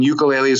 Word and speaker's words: ukulele: But the idea with Ecola is that initially we made a ukulele, and ukuleles, or ukulele as it's supposed to be pronounced, are typically made of